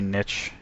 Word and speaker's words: niche: D4 looks interesting, but very niche, or niche, however you want to pronounce it.